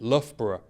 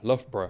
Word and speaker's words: Loughborough: name, but we found it very difficult to pronounce. Sure. Actually, before we come here, Very tough, this one, isn't it? Loughborough. Loughborough. Yeah, Loughborough.